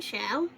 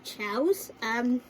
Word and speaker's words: Chao: So basically, if you can see the difference between chaos and chow, basically the way you pronounce chow is chows, with an S at the end.